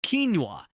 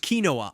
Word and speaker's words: quinoa: War sester Shire it's actually pronounced in three syllables quinoa this word is not pronounced kinoa anat POA this word is long and difficult